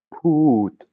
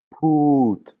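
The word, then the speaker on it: พูด: Pout. Voilà, le verbe se reposer. Pakpon. Pakpon. Voilà, et si vous écoutez bien, vous entendrez, il y a de l'air qui sort de ma bouche après le P, hein.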